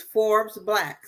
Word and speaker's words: Forbes BLK: think about join is Forbes black so Forbes like the magazine Forbes black but it's spelled Forbes BLK they're offering membership right